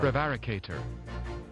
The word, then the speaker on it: prevaricator: And how do we pronounce this? Come on. Prevaricator.